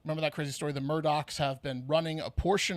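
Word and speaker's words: Murdaugh: murder yeah it's also spelled murder but it's pronounced Murdoch so it's Alex and then Murdoch with the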